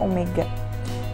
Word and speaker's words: omega: yang disimbolkan dengan Omega seperti huruf w namun dibacanya Omega kemudian digerakkan linear atau